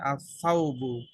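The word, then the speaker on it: الثوب: যদি আলিফ লাম আসে আসসাউবু দা ক্লথু লাম কি উচ্চারণ হচ্ছে নাকি হচ্ছে না হচ্ছে না হচ্ছে হচ্ছে না হচ্ছে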